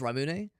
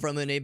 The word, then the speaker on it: Ramune: Yeah, maybe I've been mispronouncing it wrong this whole time. I thought it was Ramune, but that's the exact brand of Ramune beverage I was drinking a couple days ago.